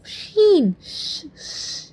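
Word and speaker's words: ش: Then we have sheen sound. Sheen, sh sounds starts from sh. It's like shine.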